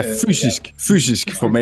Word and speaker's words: Fysisk Format: Yeah, that label that you're on, is it called Physis Format Records? Is that how you pronounce it? Yeah, fysisk format.